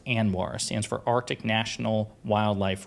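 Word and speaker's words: ANWR: to anoir a NWR it's an acronym it's pronounced anoir stands for Arctic National Wildlife Refuge um and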